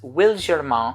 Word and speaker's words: Wilgermain: here's a fragrance that is from a brand pronounced will German and the reason for that is because the